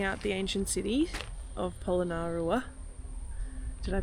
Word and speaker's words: Polonnaruwa: Alright, so we've come to our last stop of Polonnaruwa.